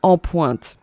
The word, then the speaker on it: En Pointe: and I think she pronounced it on point. Yes, something like that. Yeah, but you pronounce it En Pointe.